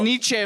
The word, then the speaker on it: Nietzsche: can It's say pronounced Nietzsche, fool.